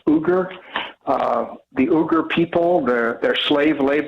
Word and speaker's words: Uyghurs: hypocrisy for using uh i think that's pronounced uger uh the uber people the their slave labor to make the nike shoes yeah the muslim uyghurs is how they pronounce it and he is a muslim by